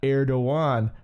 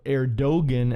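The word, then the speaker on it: Erdoğan: hawk or fighter uh erdoan as it's pronounced or erogan as as we would say maybe in our own uh English language but now here this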